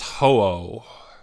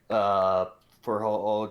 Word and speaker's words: Ho-Oh: Those are both good enough, but that's the reason Henry knew how to pronounce it right. This Pokemon is Ho-Oh.